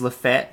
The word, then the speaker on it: Lafayette: I just want to point out, it is Lafayette. If you live in Alabama, it's not Lafayette. So, yeah, we're pronouncing it right.